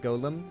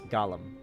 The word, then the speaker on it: Gollum: the Shadow Wolf just it's not Golem it's Gollum he's named after the